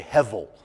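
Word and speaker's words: הבל: dot so we say heavil that's just so we're not confused about why does he keep pronouncing the B like a v in Hebrew it sounds that's the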